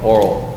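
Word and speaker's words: aural: Now, not oral like we spell it for talking, but oral, A-U-R-A-L. Oral tradition.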